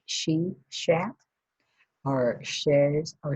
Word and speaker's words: Sheshat: And so it looks like she shat or shares or she's hat, either way.